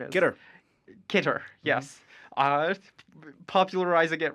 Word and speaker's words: CITR: CITR or CITR or whatever the acceptable pronunciation is. Get her. Kitter, yes.